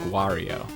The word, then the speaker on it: Wario: I think it's pronounced Wario Kyle um no yep that's why he's so angry it's it's like Mario with a W so it's like Wario no I'm pretty sure